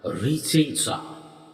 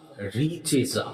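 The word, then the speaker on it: Richezza: তার জন্য আপনারা 51 দিন 51 বার করে উচ্চারণ করুন রিচেজা রিচেজা আমি বানান করে বলছি আর আই সি আর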